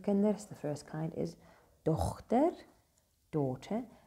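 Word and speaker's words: dogter: The first kind is dochter, daughter. Notice how we do pronounce the G there, the Germanic G.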